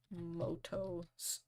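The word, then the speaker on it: Mutō: find picture of Yuki Moto spelled mudo pronounced Moto very confusing stuff anyway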